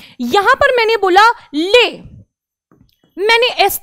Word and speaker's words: les: क्योंकि पहला रूल यह है बच्चों कि फ्रेंच में जो लास्ट वर्ड होता है, जो लास्ट कॉन्सोनेंट होता है, उसे आप प्रोनाउंस नहीं करते हैं, यानी कि आप एस नहीं बोलेंगे, आप लेज ना बोलकर बोलेंगे ले।